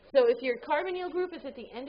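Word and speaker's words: carbonyl: oxygen this is a carbonal group carbonal it's pronounced carbonal it's carbon carbonal all right got a carbonal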